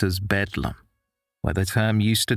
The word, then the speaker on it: Bedlam: The name was shortened to Bethlehem Hospital and later pronounced as Bedlam, where the term used to describe a scene of disorder and chaos came from.